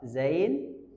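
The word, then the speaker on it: زاي: Zain dengan getaran Z tapi suara bukan nafas bukan Z itu salah. Itu berarti suara pas nafas. Zain itu cuma cuma suara saofirnya itu z huruf shad itu kayak suara angsa.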